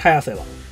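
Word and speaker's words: 早瀬: The pronunciation of Hayase is “早い” and the “い” at the end of the word is removed. Seto is the Seto Inland Sea’s Seto. Therefore , Hayase is a simple addition.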